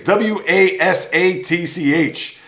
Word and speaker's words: Wasatch: I don't even know if I'm pronouncing that correctly. It's Wasatch, which refers to a mountain range for all ski resorts there in the Utah state.